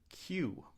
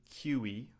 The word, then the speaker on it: queue: It's the word Q. We don't say Qy or Q. We just say Q like the letter Q.